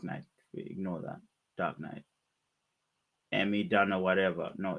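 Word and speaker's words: Amy Dunne: It's not Amy June. It's Amy Dunn. It's double N-E. I want to spell it.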